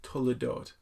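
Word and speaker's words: תולדות: There's this word in the Hebrew that appears 10 times in the book, and the word is pronounced toledot, and it's translated as these are the generations.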